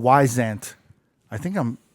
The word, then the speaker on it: Wyzant: If you guys want tutoring, like actual tutoring, it's a site called Wyzant. I think I'm pronouncing it right.